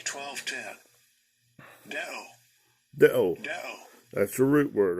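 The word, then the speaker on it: δέω: Let me get it pronounce that real quick. This word. Strong's G 1210. Deo.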